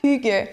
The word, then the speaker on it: Hygge: Nous, c'est ça, on a sorti le livre, excuse-moi de t'interrompre, on a sorti le livre, là, Hygge, ça se prononce Hygge. Mais ça s'écrit H-Y-G-G.